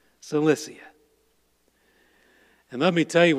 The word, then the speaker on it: Cilicia: Tarsus was the capital of Sicilia, or Cilicia. I mispronounced it. Cilicia.